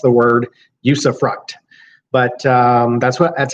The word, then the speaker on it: usufruct: that's how it's pronounced sometimes people want to put an s on the end use of rocks but it doesn't have an S on the end it's use effect and it here in